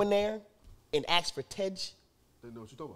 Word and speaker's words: Tej: It's spelled out T-E-J. Now, mind you, if you're asking for the Amharic, I won't be able to give it to you. But we would read it as Tej.